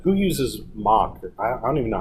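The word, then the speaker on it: Moq: so I I think of like who uses mock I I don't even know how to pronounce it am I pronouncing it right but is mach okay Mach is correct Mach okay who uses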